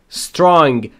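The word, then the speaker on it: strong: و گذشته یعنی بودند استرانگ قوی تلفظش رو دقت کنید استرانگ نمیگم استرانگ اولش ا نداره اند و ارد وک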